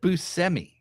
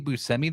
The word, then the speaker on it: Buscemi: And he said Buscemi. And I'm like, your name's been Steve Buscemi this whole time, and everybody pronounces it wrong?